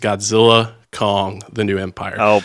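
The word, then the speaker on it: Godzilla x Kong: The New Empire: out and said that the x is silent so it's just Godzilla Kong the new Empire so why is the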